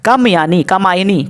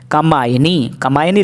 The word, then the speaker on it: कामायनी: कामायनी किसकी रचना है? कामायनी लिखा है, कामयानी नहीं लिखा है, या कामायनी।